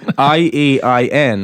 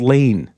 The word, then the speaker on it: Iain: Iain, right? Yeah. And when he's advancing shows in the US, everyone thinks he's called Lane. Lane.